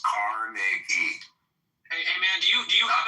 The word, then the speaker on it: Carnegie: Okay, so pronounce his fucking name right. It's Carnegie.